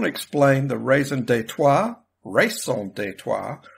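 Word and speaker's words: raison d'être: explain the reason detour race on detour or as I heard it once pronounced on an American movie Raisin data for this show I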